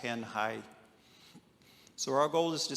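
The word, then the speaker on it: Tanjay: Uh we are located in the central Philippines on the island of Negros in a ti city called Tanhai. T- jaw y is pronounced tanh high.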